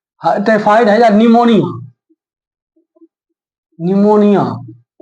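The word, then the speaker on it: pneumonia: निमोनिया, इसको English में लिखते हैं PNUMONIA है। पी से शुरू होता है, साइलेंट रहता है।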